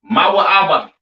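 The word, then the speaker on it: מואב: All right, this is pronounced Mawa'aba. All right, Moab or Mawa'aba in Hebrew is your Chinese people.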